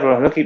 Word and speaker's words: Promoslovsky: me recuesta de pronunciarlo. Promoslovsky, muchas gracias por haber No, por favor.